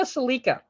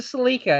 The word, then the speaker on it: Celica: Like for example, the Toyota Celica. It's a Celica. It's not a Celica. It was called a Celica in Japan, so that's why we pronounce it Celica here.